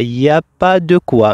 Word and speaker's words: il n'y a pas de quoi: pas de quoi floral on la prononce comme ça il y a pas de quoi mais en réalité on écrit il faut écrire il n'y a pas de quoi avec la négation qui existe. Voilà, il n'y a pas